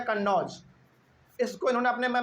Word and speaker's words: कन्नौज: दूसरा गलती उत्तर प्रदेश में जो कन्नौज है इन्होंने क्या बोला था उस समय पे?